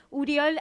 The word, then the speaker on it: Oriol: Nuestro invitado del día de hoy es Uriol. Para los argentinos tenemos que aclarar que Uriol se escribe Oriol.